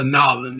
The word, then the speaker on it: New Orleans: you know us yankees we call it new orleans but down there the locals of new orleans they call it a nylon so you know let's